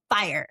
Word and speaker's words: Fyre: And it's pronounced fire.